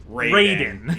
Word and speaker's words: Raiden: In Mortal Kombat, the god of lightning is Raiden. Yep. Yep. That is how it is pronounced consistently in Mortal Kombat. Always has been.